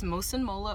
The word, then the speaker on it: Mosunmola: Okay, say your name and spell it for us one more time. Okay, so it's Mosun Mola.